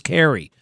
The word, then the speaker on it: Kari: Her name is spelled Kari, Kari Lake. Apparently she calls herself Carrie Lake. I still say Kari.